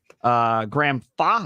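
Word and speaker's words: Graham Fach: Portland Lumberjacks, Wes Malott, Kyle Troop, Chris Prather, Graham Fa, is that how you say it?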